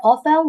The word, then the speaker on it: often: frequentလေးကိုသုံးလို့ရတယ်။သူကကျတော့မကြာခဏပေါ့နော်။ I often walk at the weekend I often walk at the weekend ဒီမှာကြတော့ကျွန်တော်တို့ကအသံထွက်လေးတွေနည်းနည်းမှားတက်တယ်နော်။ မဟုတ်ဘူးနော်ဒီမြင်ပေမယ့်အင်္ဂလိပ်စာမှာတချို့ sig letter ဆိုတာရှိပြီးသားဒါလေးတွေကိုမှတ်ထားရမယ်ဒီကောင်ကိုအသံထွက်တဲ့အခါ the silent letter this is why we need to pronounce